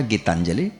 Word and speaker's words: गीतांजलि: और उन्होंने कहा था बेटा गीतांजलि शुद्ध उच्चारण है, तेरे गुरुजी जो तुझे पढ़ाते हैं वो टीचर ठीक है।